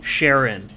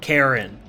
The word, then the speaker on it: Charon: call him, Charon, or Karen, or Heron. I see many different ways people pronounce it, but I'm gonna go with Heron, since I really don't want to say Karen more than 3 times.